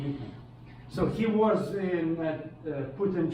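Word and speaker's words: Никон: Okay, and this guy, patriarch, archbishop, Nikon, spelled as Nikon. Nikon, it's pronounced in Russian Nikon.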